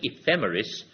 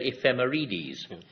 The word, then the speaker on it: ephemeris: was only reluctant because the actual word is ephemeris and I think you said ephemeides but uh it was